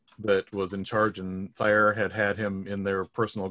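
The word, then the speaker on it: Cyre: But Clank was actually working in Sire as a. I believe that is the correct pronunciation from the mouth of Keith Baker. I've always said seer, and I've had trouble correcting myself.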